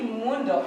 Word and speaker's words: mundo: on the second page is it mundo or mundo it should be mundo in standard latin uh